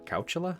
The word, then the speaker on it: Coachella: to go after this Coachella or couch Ola is how they say it okay what you're gonna